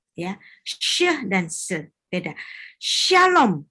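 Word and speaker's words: שלום: Shalom bukan salom. Shalom.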